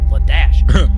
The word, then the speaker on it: Ladasha: It's a name that exists, and it is spelled pronounced Ladasha. That's pretty good.